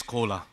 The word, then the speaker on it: Cola: Just on the stage another collaboration is coming because my name is Cola. Everybody can understand this is exactly same pronunciation of Coca-Cola.